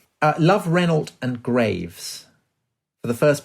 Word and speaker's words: Renault: Yeah, Mary Reynolds. Shocking. It really is Mary Reynold. I was like, of all the people to affect a French pronunciation, I would be the last that anyone would um expect.